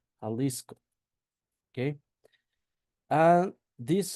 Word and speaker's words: Jalisco: So, for example, we have Jalisco that is pronounced pronounced in that way, Jalisco.